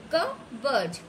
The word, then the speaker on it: cupboard: WHAT what, DOES does, ALI Ali, PUT put, INN HIS his, CUP BOARD cupboard, P is silent, cupboard.